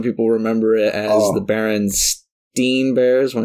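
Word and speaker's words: Berenstain: opposite of that yeah Baron Stein yeah I thought it was Baron Ste Bears my whole life but I think that that is really just a a pronunciation mistake I I I think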